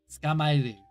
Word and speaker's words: 捕まえる: 捕まえる Skamaeru.